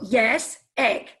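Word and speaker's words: IÉSEG: how to say it you just think of yes as in the opposite of no and egg so yes egg so that's how you say ayaseg yes okay so ayahuasca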